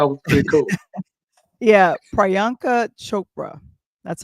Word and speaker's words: Priyanka Chopra: Yeah, Priyanka Chopra, that's how you pronounce her name.